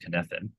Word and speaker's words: Cynefin: It's a Welsh word, spelled Cynefin, but it's pronounced Cynefin.